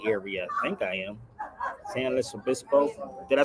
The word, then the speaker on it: San Luis Obispo: San Luis Obispo. Did I say it right, Jaquetta? Hey, Jaquetta, did I say it right? San Los. Oh, San Luis Obispo.